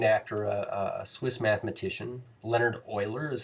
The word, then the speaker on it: Euler: Leonhard Euler is how you say his name, but it was his number that he kind of discovered here, and it's pretty profound.